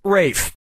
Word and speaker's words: Ralph: four yeah ray Fiennes first name is spelled like Ralph but pronounced Rafe and his brother Joseph